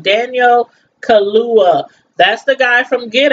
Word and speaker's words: Daniel Kaluuya: But yeah, Daniel Kaluuya. I think that's how you say his name. Daniel Kaluuya.